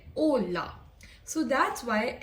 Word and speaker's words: hola: In Spanish, H is silent, so we do not say H. For example, the word hola, that means hello, right? So hola, we say hola.